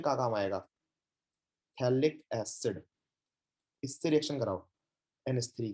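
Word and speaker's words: phthalic: रहा हूँ, spelling, थैलिक, नाम थैलिक है लेकिन स्टार्ट पी से होता है, सही है ना, पी साइलेंट है, थैलिक एसिड।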